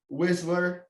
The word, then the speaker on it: Wisler: Today, I'm my friend Grant Wisler.